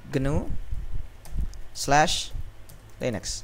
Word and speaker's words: GNU/Linux: tepatnya distribusi genu/ Linux eh cara membacanya genu slash Linux nah ini cara membacanya seperti ini ya jadi nama kanal